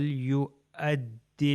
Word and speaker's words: يُؤَدِّ: یہ ہو جائے فَلْ يُؤَدِّ الَّذِينَ، بالکل حمزہ کا تلفظ الف کی طرح تھا، تو یہ ہو جائے